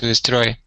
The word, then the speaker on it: destroy: To destroy. It has Mhm. 2 syllables. Turn down. Mhm. And the stress syllable is the second one, isn't it?